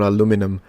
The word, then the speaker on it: aluminium: I would say aluminium. And yeah, I would pronounce it aluminium. I know what you're asking. It's aluminium or aluminum.